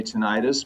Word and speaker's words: tinnitus: I think more East Coast people say tinnitus, more West Coast people say tinnitus. Oh, that's interesting. That's funny. We've been going tinnitus. Yeah, I thought that was like how the British say it.